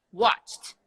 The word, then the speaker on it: watched: for you watch watch now it's gonna be watched mm-hmm okay yeah which sound is it so then it's the T sound perfect work work is